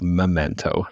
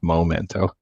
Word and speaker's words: Memento: One really interesting thing about the movie that you might not have picked up on first watch is that it's called Memento, not Momento.